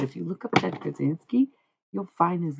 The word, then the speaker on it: Kaczynski: But if you look up Ted Kaczynski, You'll find his name pretty quickly.